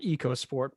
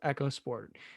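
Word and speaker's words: EcoSport: let's get this clear it is not eco sport because ford wants us to pronounce it echo sport and for that it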